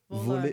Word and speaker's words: voler: Oh, because if you say volaille, it means poultry. Oh. Yes. What is voler?